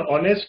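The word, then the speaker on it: honest: और ऑनेस्ट की ध्वनि, एच ओ एन ई एस की ध्वनि किससे बनती है, ओ से, ऑनेस्ट।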